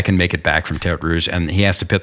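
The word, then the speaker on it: Tertre Rouge: Please pronounce this properly for me, Ross. Tetre Rouge.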